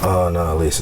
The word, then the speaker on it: Annalise: It's really Annalise. It's 3 syllables.